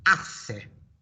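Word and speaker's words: hace: a familiar word here ase question why is it that's correct spanish h is silent well done and then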